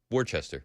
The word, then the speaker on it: Worcester: And Worcester is spelled Worcester. Worcester. That's right. Worcester. Yeah. Just like the sauce.